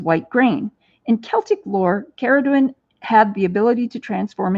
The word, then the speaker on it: Cerridwen: can alternately pronounce it ceridwen but I always pronounce it Karen because sometimes it's spelled with a k so it just makes sense to me that would be pronounced with a a K sound so anyway I found